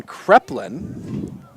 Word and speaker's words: Kreplin: So we got a pronunciation. It's Logan Kreplin. Yeah, Well, you had that wrong. I had that very wrong.